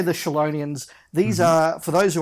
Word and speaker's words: Chelonian: story purposes is the Chelonians. Yes. And they are, of course, the giant... Now, Dave, I should pull you up. Chelonian. We've had a lot of different pronunciations of that on a recent podcast.